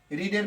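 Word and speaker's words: read: রিডের past পার্টিসিপলে রিড, উচ্চারণটা হবে এটা রেড।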